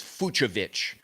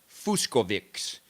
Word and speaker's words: Fucsovics: but one of you told me a long time ago that it was Fucsovics, Marton Fucsovics. Well, the announcers at Cincinnati were saying, and a couple of other tournaments in the recent past, they pronounce it Fuskovics, which is totally wrong.